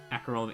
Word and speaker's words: Acerola: Casserole minus the C. I like Acerola.